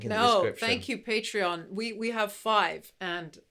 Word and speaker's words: Patreon: have a thing called patreon i know some people don't pronounce it like that but that's how the founder pronounced it so i'm going to